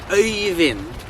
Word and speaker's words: Øyvind: Øyvind. Hear the øy. Lock in that sound.